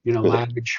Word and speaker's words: Lavidge: We always say it rhymes with savage, Lavidge rhymes with savage, but we're actually very nice people.